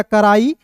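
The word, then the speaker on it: cry: सी आर को क्र होता है और अंतिम में वाई आता है तो इसका उच्चारण आई के रूप में करते हैं। तो हो गया क्राई और आई एन जी को पढ़ेंगे इंग।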